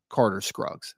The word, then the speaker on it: Carter Scruggs: Correct pronunciation for Carter Scruggs, Loudoun County, Virginia. So my apologies. Thank you so much, Jill, in the chat there. Loudoun County offensive lineman 2026 class. Carter Scruggs.